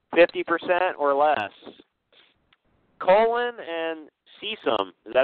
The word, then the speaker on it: cecum: Colon and cecum.